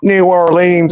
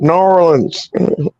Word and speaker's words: New Orleans: at New Orleans, but it's not New Orleans, it's New Orleans. New Orleans. New Orleans is still pronounced correctly to a degree, but yeah, they just roll it there.